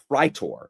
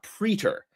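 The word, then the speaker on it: praetor: It's a idle and then a pritor, not a preter. And it like thank you for pronouncing the a in Latin there are no silent words.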